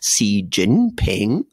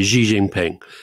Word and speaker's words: Xi Jinping: the tones right because it's in fact a rising tone of falling tone and a rising tone so it's something like C Jinping um and I I I'm now going to be criticized by everybody so so I do tend to say Xi Jinping but I shouldn't say G I should say C France he's c c jingping yeah so it goes up down up so okay yeah anyway